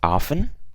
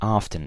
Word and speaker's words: often: I learned is that often has two pronunciations you can say often which is without the T and you can also say often so it can be